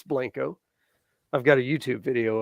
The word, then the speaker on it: Blanco: here in Blanco Texas it's not Blanco Texas all you folks coming from out of state we're Texan it's Blanco I've got a YouTube